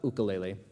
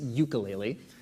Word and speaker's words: ukulele: of the things about ukulele and that's actually the the Hawaiian pronun pronunciation the the American British version is ukulele uh they're both valid I just I know